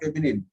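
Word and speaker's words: féminine: You add E at the end and the N is pronounced. Feminine. From where comes the word feminine?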